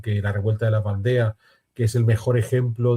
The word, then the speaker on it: Vendée: francesa en español, porque si lo pronunciamos en francés, y tal como lo pronuncian los franceses, que cambian el sonido de las vocales, ellos dicen la Vendée, aunque lo podamos leer Vendée.